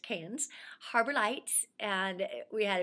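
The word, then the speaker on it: Cairns: We stayed at the Canes, that's C A I R Ns, but pronounced Canes.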